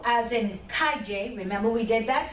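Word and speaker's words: calle: It's like the Y sound in the English million, Y sound, yeah?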